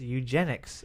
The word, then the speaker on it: eugenics: John, what Ethan Hawke movie depicts a futuristic society that practices eugenics and genetic discrimination? Eugenics. What kind of math is that? Is that how you pronounce it?